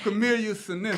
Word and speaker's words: Camellia sinensis: Camellia sinensis.